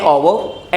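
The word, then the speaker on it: hour: We need an ओवर एंड। अब ध्यान रखना, वी नीड एन ओवर। हमेशा ओवर के पहले एच साइलेंट है, ओवर का प्रयोग होता है, एन का प्रयोग होता है क्योंकि एच साइलेंट है।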